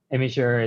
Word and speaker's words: Imgur: always understand what i what i mean when i say imager because i think they're used to a different pronunciation so this is a note for everyone just don't pronounce it that way um okay